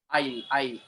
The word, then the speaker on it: aisle: Aisle. S is silent there.